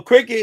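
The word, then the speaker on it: Cricut: Yeah, cricket. But it's spelled like not cricket. It's spelled like crick cricket cut. Like cricket cut. Cricket cut. Something like that.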